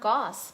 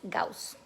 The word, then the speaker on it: Gauss: thought it said goss well in english it would be pronounced goss but he's german and so his name is gauss i think it says